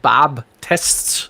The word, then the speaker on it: Baptist: I will often hear people in America calling themselves Bob tests rather than Baptist yeah to our ears you sound like you're really pronouncing the T okay uh there's a